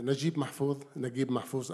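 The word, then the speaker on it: Naguib Mahfouz: Beside Najib Mahfouz, as Egyptian pronounced the name, there is a great name, who is Yusuf Shaheen.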